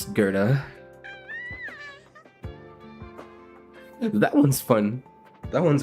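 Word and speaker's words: Goethe: weird sometimes not as weird as Gerta being pronounced Gerta that one's fun that one's a fun one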